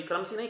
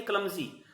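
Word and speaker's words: clumsy: भद्दा, क्लमसी, बेढंगा, क्लमसी, sorry क्लमसी नहीं, क्लमजी, क्लमजी, बेढंगा, भद्दा, बेहुदा, है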